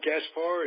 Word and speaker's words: Gaspar: That's how we Gaspar pronounce to you.